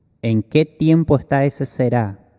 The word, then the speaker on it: será: ¿En qué tiempo está ese será? Con el acento en la A, eso indica futuro.